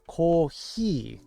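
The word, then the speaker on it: コーヒー: and sugar please the word for coffee is actually the imported word call he because there's only a couple of f sounds h and f sounds are kind of hybridized in Japanese Co I guess we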